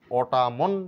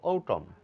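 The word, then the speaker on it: autumn: আছে অতএব এটা সাইলেন্ট এটা অটামন না বলে বলবো ওটাম অটামন নয় ওটাম কলামন নয় বলবো কলাম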